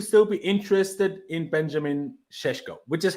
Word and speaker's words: Šeško: Even though it looks like we're keeping Broja, we seem to still be interested in Benjamin Šeško, which is how I'm told he's pronounced.